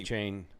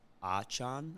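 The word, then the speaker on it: Achane: A-Chain. I'm going with A-Chain. I think he said his. He would look the pronunciation up. He said it online too. I believe it is Achan or Achan.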